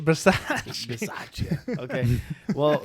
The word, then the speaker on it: Bisaccia: Well, you pronounced it wrong. It's Rich Bisaccia.